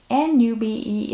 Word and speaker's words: Nube: N-U-B-E is pronounced Nube, and my viewers educated me.